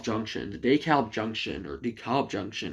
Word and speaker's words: DeKalb: And as for the DeKalb Junction, or DeKalb Junction, how it's actually pronounced, yeah, it's another pretty bad bottleneck.